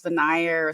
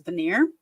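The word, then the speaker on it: venire: e r so but it sounds just like veneer like a wood veneer would sound so um when we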